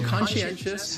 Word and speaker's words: conscientious: what's going on there so conscientious has four syllables mental consciousness the pronunciation